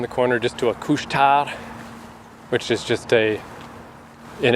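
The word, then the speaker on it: Couche-Tard: filthy anglophone mind talking in French it's fine kushar so we went there there and uh and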